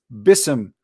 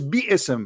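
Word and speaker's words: بسم: the ism to pronounce bism for easier recitation. There's no in Arabic, there's no word in Arabic is bism. It is biism, not bism.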